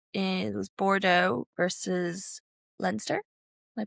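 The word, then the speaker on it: Leinster: So that was in it was Bordeaux versus Lensster. Am I pronouncing correct?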